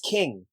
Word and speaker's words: Qing: avoid an indelicate pronunciation mrs. king with a queue she added with a flourish the way she probably